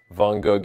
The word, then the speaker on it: Van Gogh: Vous avez besoin de cette prononciation à l'arrière de votre langue pour prononcer le mot correctement.